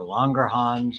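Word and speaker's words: Langerhans: famously beta cells of longer hands or longer Hans as it's pronounced and it decreases blood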